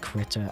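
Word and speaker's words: Krita: And yes, I've been told it's pronounced critter.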